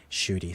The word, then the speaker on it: Ncuti: How do you pronounce his name? Ncuti, thanks.